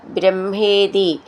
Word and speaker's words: ബ്രഹ്മ: അക്ഷരങ്ങൾ ഒന്ന് നോക്കാം ശബ്ദ ബ്രഹ്മേതി ബ്രഹ്മ എന്നുള്ളതിന്റെ ഉച്ചാരണം നമ്മൾ നിറെ പഠിച്ചതാണ് ശ്രദ്ധിച്ചോളൂ മഹ എന്നാണ് വരുക ബ്രഹ്മ അങ്ങനെയാണ് വരുക കർമ്മേതി അണൂർ കർമേത്യണൂർ ഇതി